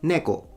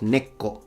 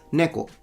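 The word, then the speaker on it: 猫: However, it's neko, not neko. Like he puts a little tsu, like a doubling of the K. That's incorrect. It's neko.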